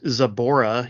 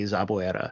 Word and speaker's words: Zaboera: He's Zabora, even though it's spelled Zaboera, so it just doesn't make sense to say it that way. You know, and it's not hard to say Zaboera.